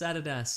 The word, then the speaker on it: Adidas: Nike yeah or like Adidas Americans call it Adidas incorrect it's Adidas or it is so maybe maybe lot crate is actually pronounced lot crate and they're like finally somebody